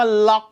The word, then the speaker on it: LOQ: คือ Lenovo ล็อค ครับ สะกด ว่า loq ออก เสียง ว่า ล็อค เลย นี่ คือ Gaming